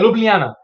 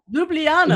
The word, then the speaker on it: Ljubljana: Oh yeah, Ljubljana. Ljubljana.